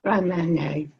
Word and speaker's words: Grand Marnier: Yes, Grand Marnier.